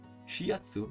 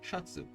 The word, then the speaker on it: シャツ: However, because the Ya is written smaller, you merge the sound with the character before, in this case, Shi. シャツ Shiatsu becomes Shatsu.